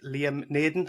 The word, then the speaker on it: Liam Naden: With me today, I've got my guest, Liam Naden. Am I pronouncing that correctly, Liam?